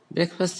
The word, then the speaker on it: breakfast: Breakfast is pronounced as breakfast. Both the vowels, the two vowels in break and fast are short vowels.